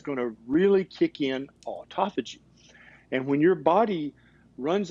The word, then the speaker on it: autophagy: community is reading about and learning about is autophagy. And this is a combination of 2 Greek words. That's how you pronounce it.